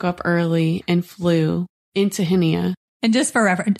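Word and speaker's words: Chania: early and flew into henia and just for reference hania is spelled c h n i a in English so we flew in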